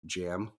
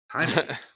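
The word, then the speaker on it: Jaime: it was so annoying because the guy kept pronouncing it as like jam not even Jamie he was like jam Rees I was like no it's Hae can you hear yeah it's it's it's really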